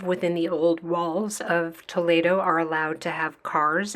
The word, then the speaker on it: Toledo: is the city of Toledo it's not pronounced Toledo Spanish e is pronounced a so it's poo and